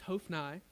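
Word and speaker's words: Hophni: of Eli Hof and I I looked it up on YouTube that's actually how you say it it's hofnai infineus on the days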